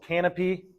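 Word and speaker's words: Kanopi: Uh it's called Canopy, uh spelled with a K, the emphasis on the K and the P and the I, so, you know, emphasize KPIs.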